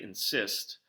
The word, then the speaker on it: insist: at the word insist when people say insist both syllables are obviously pronounced but there's more emphasis being placed on that second syllable that Syst part so on insisting that